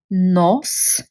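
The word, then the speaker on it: нос: a word, for example, n, o, no, which no on its own означава but I won't do it, but something else. No, when I add s, and now I have one syllable word, which is nos, and that is a nose.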